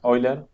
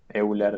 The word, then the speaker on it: Euler: Y esta es la famosa ecuación de Euler, Euler, dependiendo de cómo lo quieran pronunciar. eh, que nos da el sendero temporal óptimo de C, digamos.